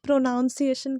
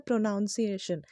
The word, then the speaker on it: pronunciation: बचपन में ना उसे प्रोनॉन्सिएशन कहते द उच्चारण का जो इंग्लिश होता है वह होता है प्रनंसीएशन और मैं खुद भी बचपन में उसे प्रोनॉन्सिएशन कहती थी जबकि उसी का करेक्ट जो उच्चारण होता है या प्रनंसीएशन जो होता है वह प्रनंसीएशन ही होता है है ना इसी